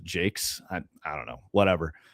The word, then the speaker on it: Jacques: Uh Brian Jake, it's you know spelled Jacques with an S on the end but I guess he's British and pronounces it Jakes.